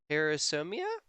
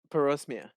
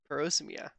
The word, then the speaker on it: parosmia: As you saw in the last video, we talked about parasomia. Did I pronounce that right? Parosmia. Yeah, parosmia.